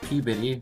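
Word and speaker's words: Peabody: I think of uh that PE bitty even though it's spelled p body I think of the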